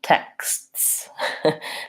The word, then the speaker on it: texts: with the word text even more difficult plural texts then I have to say so 3 unvoiced consonants there in the end very difficult many Americans struggle saying